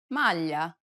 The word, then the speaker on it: maglia: Listen to Desiree and pay attention to the way it's pronounced in the following words. maglia, meglio, aglio.